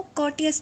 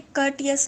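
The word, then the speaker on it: courteous: कर्टियस, या इसको कॉटियस भी पढ़ते हैं, वैसे कर्टियस लफ्ज़ है।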